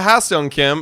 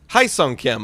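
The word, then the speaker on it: Kim Ha-seong: It's very close to Ha-Seong Kim. It's Hae-Sung Kim, I believe it is how you pronounce it.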